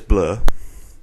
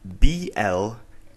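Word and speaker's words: Blær: It's like, I'm going to say it's Blur. It's Blaer, and then Bajak Cotier.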